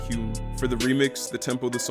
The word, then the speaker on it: HVME: The remix was produced by Spanish house musician HVME, which is pronounced Hume.